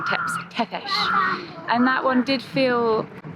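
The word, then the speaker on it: Țepeș: So apparently I was doing his name wrong, Tepesh.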